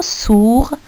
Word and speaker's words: sourd: Sourd, il y a le D à la fin, c'est une lettre muette.